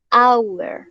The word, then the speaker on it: hour: Entonces, por ejemplo, cuando la H es muda, ¿listo? Porque generalmente en el inglés las palabras que tienen H sí tienen sonido, ¿listo? Pero hay algunas excepciones, como por ejemplo, hora.